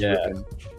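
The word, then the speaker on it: Rypien: Yeah, R Y P I N. They're pronounced Ripen.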